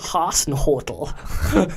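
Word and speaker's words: Hasenhüttl: Haasenhuttle.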